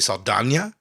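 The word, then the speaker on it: Saldaña: Yeah, it's got an Enya on it, so you have to pronounce that.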